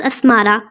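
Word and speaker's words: Asmara: नाम है हमारे पास अस्मारा। इसके मायने हैं खूबसूरत तितली और इसके स्पेलिंग है ए एस एम ए आर ए।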